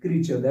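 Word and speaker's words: creature: that इ mouse तो क्रिएचर नहीं पढ़ेंगे आप क्रीचर ट्स वई आई प्रोनाउंस इट एज क्रीचर तो राउंड द माउस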